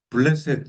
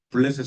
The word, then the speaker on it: 블레셋: 자, 네, 블레셋이라고 해서 지금은 팔레스타인인데 옛날엔 블레셋. 이름이 똑같은 거예요. 블레셋, 팔레스타인, 블레셋, 팔레스타인. 예. 성경 우리나라 말로는 블레셋이라고 돼 있는데 영어로는 팔레스타인이에요. 팔레스타인. 예. 발음이 같은 건데 우리가 다윗이라고 하지만 영어로는 데이비드라고 해요.